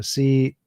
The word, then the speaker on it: Casimir: It's spelled with a C, so Casimir.